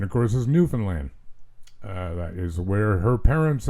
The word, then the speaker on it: Newfoundland: Proper pronunciation, of course, is Newfoundland.